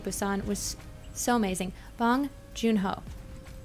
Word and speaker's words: Bong Joon-ho: it was so amazing bong joon-ho okay well I had the syllables right I just switch them let's see let's pass